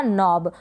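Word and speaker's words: knob: और ये है के जो है एन से पहले के है, के साइलेंट है, एन का उच्चारण क्या होता है, न होता है।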